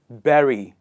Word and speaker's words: bury: or is it berry it is berry and not bury please